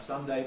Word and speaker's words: Sunday: or not you weaken so the names of the days of the week can be pronounced ending in day or weep deep so we can have Sunday Monday Tuesday Wednesday or we can have Sunday Monday Tuesday Wednesday and most speakers in fact have both possibilities within their repertoire the general advice I